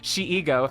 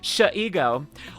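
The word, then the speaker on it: Shego: If I ever met Sayu or Amelie, I'd say to them, pronounce it Shigo, She-ego, Sh-ego.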